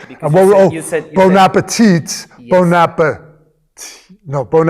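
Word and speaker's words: bon appétit: You were like, don't pronounce the last letter. Because And you said- bon appetit.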